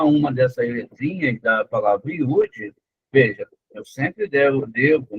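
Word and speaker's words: יוד: Iud, tá vendo? É, ó, cada sonzinho da letra aqui, ó. É iud sozinha a letra, mas se escreve com três letras, I, U, D.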